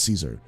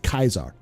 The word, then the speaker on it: Caesar: pope at one point julius caesar i'm sorry julius kaiser julius kaiser because c there is no c in greek or latin there's no s sound for c's all c's are hard k sounds did i study the